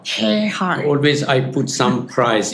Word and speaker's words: KheirKhah: KheirKhah. KheirKhah. KheirKhah. Always I put some prize if anyone can pronounce my family name, but normally not easy.